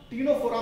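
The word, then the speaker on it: Ctenophora: ठीक है, तो फाइलम टीनोफोरा में जो नाम पड़ा है टीनोफोरा, उसका मतलब होता है टीनी बियरिंग एनिमल्स। तो टीनोफोरा मींस टीनी, इसमें टी इसमें सी साइलेंट है, tiny bearing animals, tiny bearing animals.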